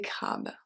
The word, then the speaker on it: crabes: Et cherche des crabes. Et cherche des crabes. Cherche, final E, crabe, final E and S.